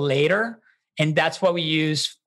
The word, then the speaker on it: Later: Spell it out Later. For us. I'm Later, Later. T-E-R. Yes. Like see you later, alligator.